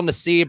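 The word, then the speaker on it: Nassib: is pride month and carl nesib or carl nassif i think is actually where you pronounce it i feel like it should be necev to give a little more color but he came out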